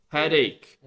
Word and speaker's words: headache: This vowel sounds different. A, you see A. Ache. Ache. And this is egg. Egg. Not egg. You see, it's a different sound. This sounds like a. And this sounds like a. Ache and egg.